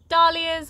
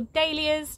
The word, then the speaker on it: dahlia: new lettuces another artichoke these are dahlias or dahlias depending on how you say it and another sunflower so